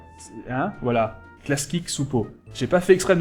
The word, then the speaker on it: Klasky Csupo: À l'époque, la boîte d'animation des courts-métrages, c'était Klasky Csupo. C'est pas si facile à prononcer au début, Klasky Csupo. Hein? Voilà. Klasky Csupo.